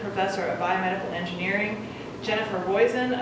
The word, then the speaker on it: Roizen: of Biomedical Engineering, Jennifer Roizen, Assistant Professor of Chemistry, rhymes with poison, I will never forget that.